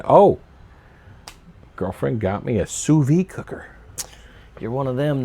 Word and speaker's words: sous vide: Aldi sells it, so a lot of their pre-cooked meats is technically sous vide.